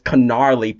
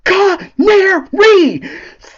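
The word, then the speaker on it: Canari: She was like, "Listen, let's go find this Canarly person," and he said, "It's Canary. Get it right."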